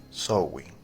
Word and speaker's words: Samhain: Irlanda como zwing que a pesar de que se escribe sing o samaín se pronuncia así sowin pero esto carece de